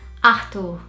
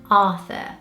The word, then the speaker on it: Arthur: Brazilians would pronounce this name Arthur. And here in the UK, you'd probably hear Arthur. So that is one that's very, very different. This was one of my top baby names for my little boy. And we ended up not choosing that name because the pronunciation was so different between Arthur and Arthur, and especially with the TH sound, because that sound does not exist in Portuguese.